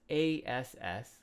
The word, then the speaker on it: ass: Nowadays, it's a bad word, but at this time, it just meant a donkey, and that's ASS, which is pronounced ass.